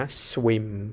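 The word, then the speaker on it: swim: หนึ่ง พยางค์ นะ ครับ S กับ W เนี่ย เป็น เสียง ที่ ควบ กล้ำ กัน นะ เรา จะ ไม่ ได้ อ่าน มัน แยก พยางค์ นะ ครับ ไม่ ได้ อ่าน ว่า สวิม ไม่ ใช่ แบบ นั้น เนาะ อ่าน เป็น สวิม เป็น เสียง พยางค์ เดียว นะ สวิม สวิม ชื่อ ภาษา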